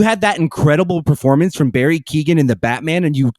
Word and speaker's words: Keoghan: Barry Keoghan. Yeah, Kogan. That's it, Keegan.